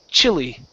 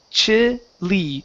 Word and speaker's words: Chile: Now, this country right here, this country is pronounced Chile. Chile. Chile. Chile. Okay. Pronounce an e sound at the very end. Chili. Chile. Chile. Chile. Okay. Getting closer. Uh, let's try this. We have an e sound at the end here.